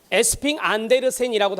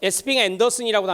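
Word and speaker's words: Esping-Andersen: 에스핑 안데르센이라고도 하고요. 에스핑 앤더슨이라고도 합니다. 영미식 발음이거든요.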